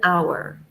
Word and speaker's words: hour: a word that begins with H that's not pronounced like our we would say an hour ah yes that's true or an honest mistake